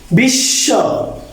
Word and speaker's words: বিশ্ব: এক্ষেত্রে বিশ্ব, বিশ্বাস দ্বিতীয় উচ্চারিত হয়েছে, কারণ এই শব্দগুলো নেই, এই বর্ণগুলা থাকলে ম এবং দুইবার।